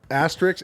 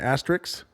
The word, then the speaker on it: asterisk: what was i saying asterix you were saying like as if it was singular asteroids oh an asterisk it could never be singular i don't know if